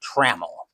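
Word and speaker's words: Trammell: is 0 for one I always want to pronounce it TRL but it's actually traml necro will get the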